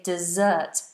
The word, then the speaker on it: dessert: ways of pronouncing it if you live in the desert the Sandy Place lots of sand it's a desert desert but what you eat after dinner is dessert desert dessert desert desert